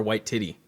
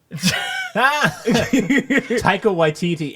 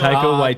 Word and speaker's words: Taika Waititi: That actor's name, whatever, White Titty. Taika Waititi, and you have to pronounce it correctly. Yeah, Okay, fine. correctly. We don't need to. Taika Waititi.